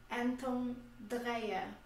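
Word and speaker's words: Anton Dreher: Dois desses cientistas eram o Gabriel e o Anton, que a Luciana vai pronunciar o nome deles corretamente, que eram dois alemães. Gabriel Semir Anton Dreyer.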